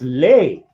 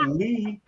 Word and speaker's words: Lee: you are lee that's lay oh the pronunciation of l-e-e was lay and they're like going you're not lee that's that's lay not lee and i'm like dude i'm that's my name lee my name my name